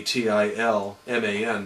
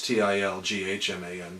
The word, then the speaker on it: Tilghman: know, Tilghman posters, and they mispronounce it because the G and the H are silent. It might as well be Tilman, but it's Tilghman.